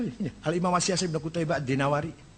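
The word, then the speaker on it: الدينوري: Al-Imam As-Siyasi Ibn Qutaibah Ad-Dinawari. Jangan Ad-Dainuri bacanya, Dinawari. Jangan Ad-Dainuri, nggak ada kota Dainur, ada Dinawar. Al-Asma'i, nggak ada Asma'i, Asma'.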